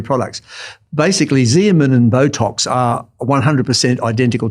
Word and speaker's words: Xeomin: One's called Xeomin, spelt with an X, Xeomin, Right.